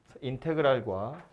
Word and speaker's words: 인테그랄: 아무튼 s를 늘어뜨렸는데 읽을 땐 인테그랄이라고 읽어요. 인테그랄 fx dx 이렇게 생긴 녀석입니다. 인테그랄과 dx가 x로 적분했어요 그런 뜻이고요.